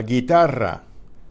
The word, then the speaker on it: guitarra: Miguel that are silent you again in la guitarra la guitarra la guerra llegará Antigua Antigua any